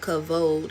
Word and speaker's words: kabod: And it's called kabode. And so, this Hebrew word can stand for glory, honor, splendor, wealth, health. And so, cavode is how it's pronounced.